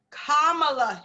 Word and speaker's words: Kamala: It's Kamala Harris.